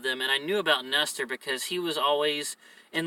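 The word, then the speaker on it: Nester: And it's spelled just like that, N-E-S-T-E-R, Nestor.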